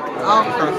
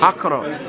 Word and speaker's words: Accra: Accra. Accra. Yeah. Am I pronouncing that correctly?